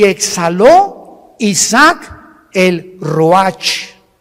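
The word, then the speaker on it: רוח: y exhaló Isaac el Roach así como suena se pronuncia la c en hebreo como J ruaj se le só y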